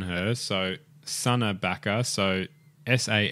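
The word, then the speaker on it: Sanne: of background on her so sa backa so s a n n e sa that that's that's a pronunciation pronunciation with it so she's 19 years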